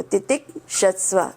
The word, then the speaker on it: तितिक्षस्व: नित्यास, ताम्स, तितिक्षस्व, यहाँ पर भी आप थोड़ा अलग कर देना इसको, तितिक्षस्व ऐसे, तो हमें बोलने में, उच्चारण में गड़बड़ नहीं होगा।